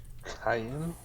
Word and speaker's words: chitin: Chitin? Well, according to the internet, it's supposed to be chitin, but it just sounds wrong in my opinion.